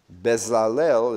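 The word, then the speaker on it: בצלאל: Bezalel is how we tend to say it because it, in English, is spelled differently.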